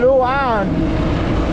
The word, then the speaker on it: Luan: And it's just a windy road going out of Tibiao, headed towards Barbosa and Luan.